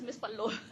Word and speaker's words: MS_PALLO: yes, we pronounce it as Miss Pallo.